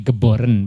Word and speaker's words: Geboren: Eh bahasa Belanda ya gebor nulisnya Geboren baca nulisnya bacanya Gebore.